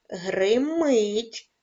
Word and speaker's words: гримить: ставимо в них наголос гримить наголос падає на другий склад читає наголос падає на